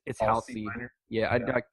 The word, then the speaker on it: Halsey: he's the big I never know how to pronounce his first name. I want to say Halsey. Halsey. It's Halsey Halsey.